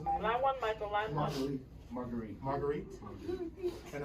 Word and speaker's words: Marguerite: Marguerite.